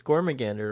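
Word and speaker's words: Gormagander: i say it right it is gorma gander right yeah okay because it sounds like demogorgon that's why it sounds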